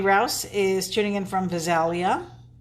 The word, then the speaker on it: Visalia: is tuning in from Visalia Visalia okay I say it like Vidalia onion these are those heart